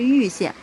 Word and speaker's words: 蔚: 当地人念禹县，然后呢，实际上呢，它这个正确的读音应该是玉县，应该是 4 声。